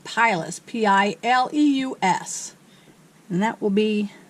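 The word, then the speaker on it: pileus: That is known as the cap, or if I pronounce it right, pilus, P-I-L-E-U-S.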